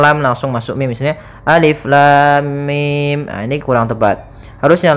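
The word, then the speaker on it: الم: panjang en harakat saja maka cara yang benar membacanya adalah seperti ini Alif Lam Mim panjangkan dulu lamnya kita ulang kembali Alif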